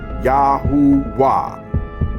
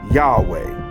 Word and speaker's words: Yahuwah: So the yod is pronounced Yah, and the hey is pronounced with the vav, or hu.